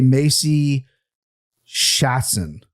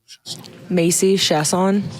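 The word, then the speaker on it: Macy Chiasson: I'm going to say Macy Shatson. So you did well to emphasize the first syllable. Okay. But you didn't get it right.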